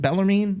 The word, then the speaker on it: Bellarmine: Bellarmine?